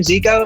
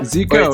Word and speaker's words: Zico: with any song it's you pronounce the same ziko zika yeah right i'm just making